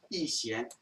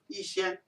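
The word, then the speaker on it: 逸仙: Yat-sen was a Cantonese pronunciation when he went to school in Hong Kong. Yixian in Mandarin.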